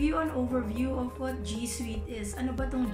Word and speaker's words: G Suite: So, ang pronunciation po niya, G Suite, para pong sweetheart. So, once again, all together now, it's G Suite.